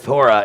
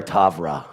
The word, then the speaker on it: Torah: When you see the word Torah, it's never Tavra.